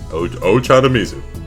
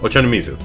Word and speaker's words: Ochanomizu: Ochanomizu. Ochanomizu. I think that's how you pronounce that. Ochanomizu.